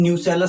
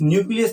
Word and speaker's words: nucellus: हैं, ये होती है न्यूसेलस सेल्स। न्यूक्लियस नहीं, न्यूसेलस। स्पेलिंग में भी डिफरेंस है, ठीक है, कंफ्यूज नहीं होना है। न्यूक्लियस नहीं है, ये न्यूसेलस है।